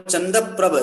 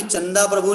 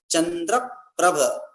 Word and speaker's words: चंद्रप्रभ: चिन्ह, और फिर 9वें चंद्रप्रभ। यहाँ भी चंदा प्रभु नहीं बोल, चंदा प्रभु लोग बोलने लगते हैं, चंदा प्रभु नहीं है, नाम क्या है? चंद्रप्रभ। इस प्रकार से ये सही उच्चारण, सही पाठ है।